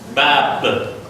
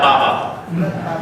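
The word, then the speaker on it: باب: Bab. Bab. This is not baba. This is only bab.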